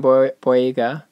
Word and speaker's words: Boyega: I like the casting by John Boyega.